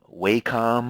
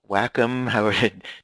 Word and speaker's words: Wacom: The most popular is called the Bamboo tablet from Wacom or Wacom, W-A-C-O-M is how you spell it.